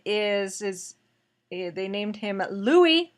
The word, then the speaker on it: Louis: his name because spelling spelled the French way but it's pronounced the American Way Thank You Kate and